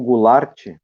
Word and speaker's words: Goulart: E o último caso é de João da Silveira Goulart, ou Goulart, como é pronunciado no sul de Santa Catarina, frequentemente também no Rio Grande do Sul em alguns locais, cujos sobrenomes, tanto Silveira